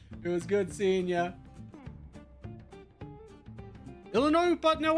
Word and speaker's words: Illinois: We appreciate Illinois, but no S, teaching people how to pronounce Illinois.